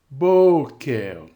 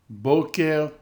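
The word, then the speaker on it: בֹּקֶר: And notice the accent is now on the syllable before the e. Melech. Sefer. Boker. Mamlechet. Ketovet. Now read these a little more quickly. Melech, Sefer, Boker, Mamlechet, Ketovet.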